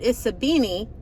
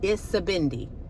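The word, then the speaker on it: Isibindi: I pronounced it Isabini in the entire video instead of Istabindi. Isabindi. I'm saying it wrong now. Isabindi. That's the right way to say it.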